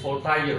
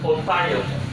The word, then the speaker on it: Voltaire: Kalau bahasa Prancis Voltaire. Tulisnya Voltaire. Ya, tulisannya Voltaire. Kalau bahasa Prancisnya bacanya Voltaire. Kalau bahasa Inggris baca Voltaire.